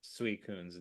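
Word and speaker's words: Suicune: the name's name is composed of two Japanese words sui meaning water and being meaning monarch just say those two words and you've correctly pronounced sui Coon's name.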